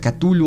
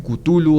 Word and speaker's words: Cthulhu: Hay quien pronuncia Cthulhu, otros dicen Cthulhu, otros dicen Tulu. De hecho, Lovecraft decía que Cthulhu era como un tosido, como toser, que era como...